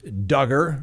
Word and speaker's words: Duggar: of a side note josh duggar rhymes with hugger he was part of